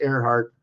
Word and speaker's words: Earnhardt: mom's last name is Earnhardt that's an E with a heart pronounced Earhart oh my goodness ego